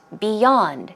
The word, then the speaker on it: beyond: revolving what about beyond beyond the stress goes on the second syllable and we had beyond